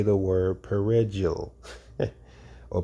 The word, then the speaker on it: perejil: to say the word perejil or perejil, which is Spanish for parsley. For Creole-speaking Haitians, the R sounded was difficult to pronounce, and a slip of the tongue became a death sentence.